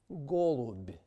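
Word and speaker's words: голубь: So, for example, we will compare these words, klub, which ends in a hard b, versus golub, which ends in a soft b.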